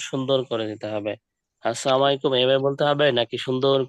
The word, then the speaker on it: আসসালামু আলাইকুম: কারো সাথে দেখা হলে কি বলতে হবে সালাম আসসালামু আলাইকুম আচ্ছা অর্থাৎ ফোনে কথা বলার সময় প্রথমে সালাম